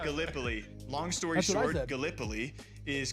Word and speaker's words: Gallipoli: right because being from Iowa, I said uh Galipoli. That's what I said. It is pronounced Gallipoli.